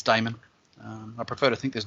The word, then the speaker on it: daemon: which is it's about some some people actually pronounce that demon but normally it's diamond i prefer to think